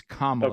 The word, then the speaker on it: Kamala: It's Kamala. Okay. It's Kamala Harris. Kamala. Yeah, Hey. and everybody knows you're mispronouncing her name because there's some deep-seated hate for her.